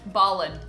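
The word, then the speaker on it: Bawlin: Are you uh here to meet with um Michael and Jacob Balin? They are brothers. It's very convenient cuz I only had to tell you one last name. What's the last name again? Balin.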